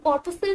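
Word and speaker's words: corpuscle: अब कॉर्पसल में क्या होता है, देखो इसका प्रोनाउंसिएशन थोड़ा ऐसी है, बट इसको आप मसल्स वाले उससे देख सकते हो प्रोनाउंसिएशन से। तो एम की जगह बेसिकली यहाँ पे कॉर्प आ जाता है, तो ये मसल होता है, ये कॉर्पसल हो जाता है।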